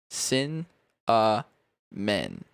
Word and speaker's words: cinnamon: I was like, think of it like sin men.